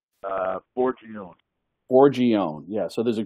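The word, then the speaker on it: Forgione: your famous chef client Mark how do you pronounce his last name uh foron foron yeah so there's a great picture of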